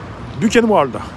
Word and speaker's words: Buchenwald: Prononcé comment ? Buchenwald ? Buchenwald.